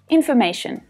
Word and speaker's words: information: Information, information. Now, another handy tip about all words ending in T-I-O-N is the syllable before T-I-O-N is usually the stressed syllable.